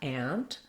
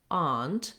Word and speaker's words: aunt: they say more like aunt that tends to be more of an east coast pronunciation it's also more similar to the british pronunciation so you will hear